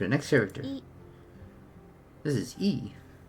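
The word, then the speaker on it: え: Equivalent of the vowel E in English. Pronounced as E.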